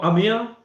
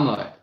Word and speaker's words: Amir: Oh, Amir. We need to say it right. Yeah, it's not Amar.